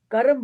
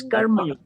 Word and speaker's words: karma: Karam is a Hindi way of pronouncing things. In one or two places they use karam instead of karma. Yes, so karma. No, karam is not used anywhere. Okay. That's what I wanted. In some Indian languages, there's a difference in saying, pronouncing Sanskrit words. Dharma becomes dharam, mantra becomes mantar, karma becomes karma. That is the local language variation. But Sanskrit pronunciation is karma, dharma, mantra.